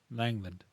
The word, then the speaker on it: Langland: hmm Langland. There's a second syllable to his name.